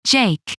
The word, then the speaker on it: JAIC: joint artificial intelligence center jaic pronounced jake in june 2018 under